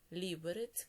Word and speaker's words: Ліберець: В польській мові наголос в більшості падає на передостанній склад, а у чеській на перший склад. Отже, Варшава, Катовице, Краків, Переми, Перемишель, Сосновець, Прага, Карлові Вари, Ліберець, кладно, Тепліц.